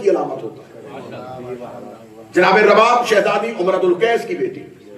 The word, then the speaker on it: رباب: اس شہزادی کی والدہ گرامی جناب رباب، اس کا تلفظ اردو زبان میں اکثر رباب کہا جاتا ہے. پیش کے اعتبار سے اسے نہیں پڑھیں گے، پیش کے ساتھ پڑھیں گے تو غلط ہو جائے گا. رباب پیش کے ساتھ پڑھے تو ساز کو کہتے ہیں. اگر زبر کے ساتھ پڑھیں گے تو تلفظ ٹھیک ہے.